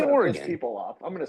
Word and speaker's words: Oregon: Oregon. Like a dodecagon.